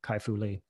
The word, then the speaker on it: Kai-Fu Lee: that book the ai super powers by dr kaifu lee uh oh good thanks i did get the pronunciation correctly so let's dive into the national